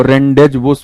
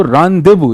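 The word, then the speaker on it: rendezvous: क्या बोले अब इसको, रेंडेज वुस बोल दें तो फिर खुद ही नहीं बोलने में अच्छा लग रहा है। तो रांदेवू इज the right pronunciation, रांदेवू।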